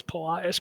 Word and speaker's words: Polias: That's the name, Polias. I gotta remember how to pronounce it. It's Polias.